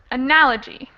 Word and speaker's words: analogy: about where it's stressed it's analog analogy so that's definitely the second syllable but how many syllables did you say there were four yes four four syllables here analog g four okay but